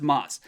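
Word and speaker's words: ます: but just be aware that that's moss even though there's a ooh at the end it's actually not pronounced okay okay all right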